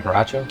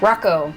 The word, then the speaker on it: Hracho: bytes how do you say your last name borracho Rocco Rocco yeah Sam I was already gonna mess